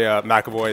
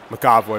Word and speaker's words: McAvoy: that back Matt McEvoy trying so hard to say McAvoy instead of a cowboy tonight Matt my natural instinct is to say Maga boy because of the way it's spelled but she's alright got